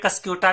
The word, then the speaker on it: Cuscuta: देखिए, इसको या तो आप कैस्केटा कह सकते हैं या कस्क्यूटा भी कह सकते हैं, स्पेलिंग है CUSCUTA।